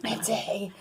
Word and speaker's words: Matte: The E is silent. I like to talk fancy. Matte.